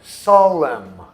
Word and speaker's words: solemn: Uma palavra como solemn. Em inglês, solene é solemn. Você vê que é soletrado com N no final, mas a gente não pronuncia.